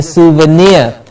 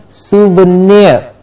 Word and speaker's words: souvenir: chief guest with a souvenir please remember the pronunciation soon soon now in the middle clearly heard souvenir yes souvenir they presented the chief guest